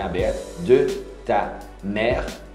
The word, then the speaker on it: mère: Mère, não pronuncia o ezinho no final.